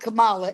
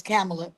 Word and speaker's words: Kamala: uh and they said don't get her name wrong it's not Kamala it's camela so they they they